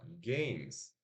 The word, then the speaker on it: games: E esse E não tem som. Não tem som aqui. É I. Desculpa, não é nem I. Não é nada. É games. Ó, faz o som da consoante M. E o som da consoante S. Games. Não fala games. Não é games. Nem gamers. Não, é games. Games. Portanto, tem apenas uma sílaba. Certo?